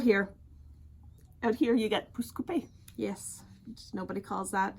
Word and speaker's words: Pouce Coupe: It's pouce coupe. It's written in French. Yes. It should be pronounced in French. Yeah. Nope. It's pouce coupe. Which sounds like poopy scoopy to me.